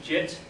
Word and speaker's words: Git: Regular development is tracked using a tool called Git. Some people pronounce it JIT.